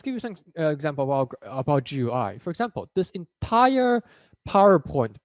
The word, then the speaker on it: GUI: interface short for gui you can pronounce it as gui um are basically whatever